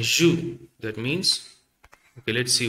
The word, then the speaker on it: jus: So the last letter you have to omit, okay, because it is a consonant. So now let's spell it. G-U-S. G-U-S. But when you pronounce it as a word, ju and ju, that means, okay, let's